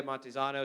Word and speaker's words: Montezano: Montezano?